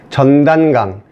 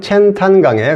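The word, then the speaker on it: 钱塘江: 그 강 이름이 전단강, 우리말로 부르면 전단강, 중국 발음으로 부르면 첸탄강에 가깝습니다.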